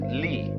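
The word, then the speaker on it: 理: They pronounce it lee.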